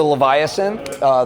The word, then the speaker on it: Leviasynth: So I'm Ken with ASM, and this is the Leviasynth. The correct way to pronounce it is Leviasynth, not Leviasynth.